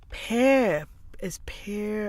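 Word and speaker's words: Père: Pear. Okay. Pear. Okay. Like father, pear.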